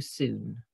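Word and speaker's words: cun: channel to be f some schools say it's too soon soon is spelt c u n if you've seen that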